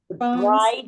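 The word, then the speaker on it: braai: bride. You call it bri. A bride. You said it right.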